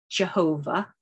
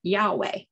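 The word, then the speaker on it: YHWH: another title they used the initials y h w h which could be pronounced jehovah or yahweh and just as i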